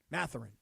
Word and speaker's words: Mathurin: Mathurin.